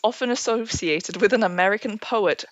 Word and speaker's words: Poe: This bird is often associated with an American poet whose last name rhymes with toe.